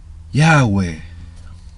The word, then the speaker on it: Yahweh: Yahweh. Yahweh. O Yahweh, ¿sí? El tema es que no son 3 sílabas, son 2 sílabas.